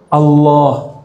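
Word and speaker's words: الله: u itu Allah jadi cara baca Allah ini gimana bukan Allah Allah jadi A tapi cenderung kepada u a cenderung kepada u bukan Allah tapi Al Allah bacanya A tapi lidahnya ngarah ke u Allah Coba Allah sekarang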